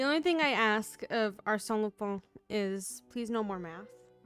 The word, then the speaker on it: Arsène Lupin: no one in the game can pronounce his name correctly. Arsène. Arsène Lupin?